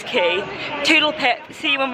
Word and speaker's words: Quay: It's not Quay, it's Key.